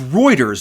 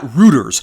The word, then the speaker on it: Reuters: If you guys are interested in reading the Reuters article, it's pronounced Reuters, not Reuters.